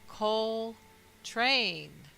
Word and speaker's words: Coltrane: And his last name, Coltrane, is phonetically Coltrain, C-O-A-L, train, T-R-A-I-N.